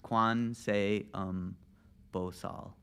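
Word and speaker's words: Gwanseum Bosal: So it's pronounced Quan Seum Bosal.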